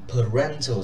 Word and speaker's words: parental: Thì mọi người cần phải lưu ý parental support thì nó là trọng âm 2, trọng âm ở rent.